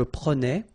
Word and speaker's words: prenais: Alright, so same thing here, final S not pronounced. Je prenais, tu prenais, il prenait, final T not pronounced, so the same form, okay?